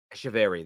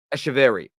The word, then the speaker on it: Echeverri: and I need to use Google Translate to pronounce his name correctly. Claudio, is it? I'm going to Google Translate, do it again. Echeverri, there we go.